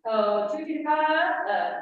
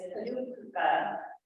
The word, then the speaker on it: Kajukuka: At, Tutuka, Old Tongass? What Lynn is trying to pronounce is Kajukuka, which is the word for Tongass Island Village and translates to place of the cottonwoods.